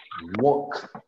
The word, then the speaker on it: walk: can see so we have work walk the pronunciation is like this walk walk the same happens with talk talk the most